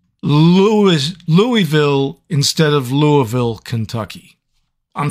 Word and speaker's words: Louisville: you do oh okay real quick the worst pronunciation mistake somebody got somebody gave me a really hard time because I said Louis Louisville instead of Louisville Kentucky I'm sorry I'm not